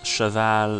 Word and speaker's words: Cheval: guy yeah and friend in French it's Cheval and in English like the best I could pronunciate that would be shovel or something like a shovel uh yeah it's Chevelle